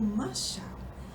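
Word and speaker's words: משל: O termo hebraico pode ser pronunciado como mashal.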